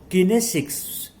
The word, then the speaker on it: kinesics: So this body language sometimes is said kinesics, Kinesics. So it is pronounced as kinesics.